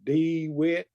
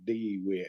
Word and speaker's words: DeWitt: Arco County it's probably d witch I don't pronounce many words correctly so I just say it how I'm going to say it they say they say d wit and heavy on the D I don't know why